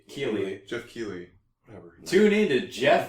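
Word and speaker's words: Geoff Keighley: Jeff Knightley. Is that how you pronounce his name? Keeley. Jeff Keeley.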